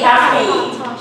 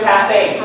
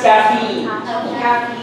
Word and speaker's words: caffeine: The stress should be on the first syllable, so it should be caffeine. So guys, from now on, forget your caffeine. There's no such word. It's caffeine.